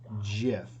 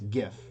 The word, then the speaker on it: GIF: but but anyway the the correct way to pronounce it is jiff g j like j i f but it's gif dang it i just said it wrong didn't i see it's